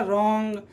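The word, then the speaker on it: wrong: ठीक है, तो यहाँ पर R के पहले W आ रहा है तो क्या हो जाएगा, तो W साइलेंट, तो क्या हो जाएगा, रॉन्ग, राइट, रैप, रिस्ट, रेपर और रिंकल।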